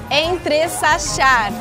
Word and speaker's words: entressachar: Não é J? É SH, é CH. Poxa! É o nervoso. É o nervoso, né? Muita emoção, né? Então tá bom. Olha lá, Alexandre. Entre Sachar, intercalar, misturar, mesclar.